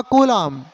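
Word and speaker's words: coulomb: देखो एमकेएस में चार्ज की यूनिट होती है कूलाम, सी का प्रोनाउंसिएशन होगा कूलाम, लेकिन सीजीएस में चार्ज की मैथमेटिकल वैल्यू बदल जाती है।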